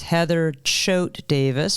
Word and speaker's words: Heather Choate Davis: your full name Heather my full name is Heather Choate Davis because Choate was my maiden name I usually